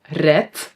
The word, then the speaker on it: red: So, red we pronounce with a t, but we write a d.